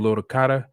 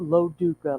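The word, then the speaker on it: Lo Duca: doing today good my name is actually lo duka like the baseball player okay angelo duke yes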